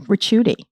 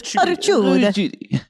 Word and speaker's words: Ricciuti: No, it's Ricciuti. Ricciuti. You got to say it like this with the Italian hands. Ricciuti, which actually means curly.